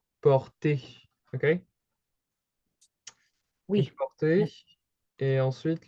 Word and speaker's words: portez: About the pronunciation, it's close. However, the Z isn't pronounced. On prononce pas le Z. So, to kind of help you with the pronunciation, you would pronounce it like in those brackets like this, okay? Okay, yeah. Oui. So it's not portes, it's like porter, okay?